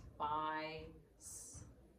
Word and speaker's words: spice: Now, that's a silent E syllable Mhm. because see how the I is saying its name? So it's spice because it's silent E.